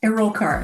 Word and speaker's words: Erulkar: digital marketing uh my guest today is Marina alar I hope I'm pronouncing your name correctly Marina a rollart and and thank you for asking oh yes